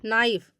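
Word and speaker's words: knife: नहीं हो रहा है नाइफ नाइ मी चाकू यहां पर भी देखिए के का जो है तो के का उच्चारण नहीं किया जा रहा है अब अगला देखिएगा नॉलेज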